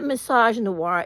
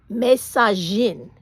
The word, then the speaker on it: misogyne: It's les, and the way you say misogyny in French is not misogynoir, it's misogyne, okay? In French, you say misogyny, the word is pronounced misogyne, misogyne, okay? It has three syllables.